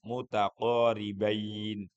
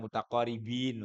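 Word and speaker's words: متقاربين: Idgham mutaqorbain. bacanya yang pas ya atau dalam bahasa Arabnya disebut alidghamul mutaqorbain. Mutaqoriin bukan mutaqoribin lah ya. Mutaqorbain.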